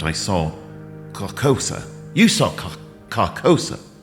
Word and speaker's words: Carcosa: You saw Carcosa, right?